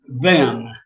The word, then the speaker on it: Hven: Now, since the island belongs to Sweden, it's Ven, or actually they come closer to spelling it, pronouncing it Fen on there.